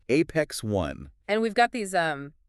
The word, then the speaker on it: Apex One: Apex one, not Apex own. Say it right. Apex one.